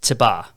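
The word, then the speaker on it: תֵּבָה: The word is pronounced tibah, right?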